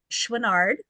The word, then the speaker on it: Chouinard: today's guest today so today I have Joel schard and I'm keeping my fingers crossed I pronounced that correctly again did good job oh